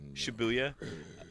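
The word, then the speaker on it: Shibuya: dangerous is okay yeah you say shabo you're wrong shabuya I don't think sh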